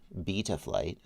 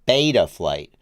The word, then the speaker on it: Betaflight: We're going to use the European pronunciation. Betaflight. Not the American pronunciation. Betaflight. Americans like our mouths to be open when we talk.